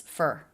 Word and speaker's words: for: It's not pronounced for, is it? It's fur. Fur.